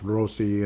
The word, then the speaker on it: Rossi: And I know Rossi and I it's pronounced Rosi. And but yeah, you can just call me Rossi.